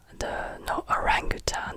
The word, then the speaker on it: orangutan: L'orang-outan, the orang-outan, orangutan, this is how you pronounce it in English, the orangutan, l'orang-outan, orangutan, l'orang-outan, orangutan, l'orang-outan.